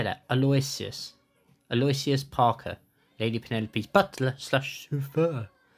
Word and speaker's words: Aloysius: Aloysius.